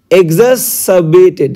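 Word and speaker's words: exacerbated: কান্ড সৃষ্টি করেছে এন্ড এক্সাসাবেটেড আচ্ছা এক্সাসিবেটেড এই আর টা আমাদের আর এর প্রোনাউন্সিয়েশনটা হয় না আর টা সাইলেন্ট ক্লিয়ার তাহলে এক্সাসিবেটেড এক্সাসিবেটেড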